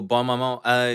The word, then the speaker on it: Bonne Maman: Is it Bonne Maman? Bon Maman? Oh, Bon Maman. It's the French one with the checker top.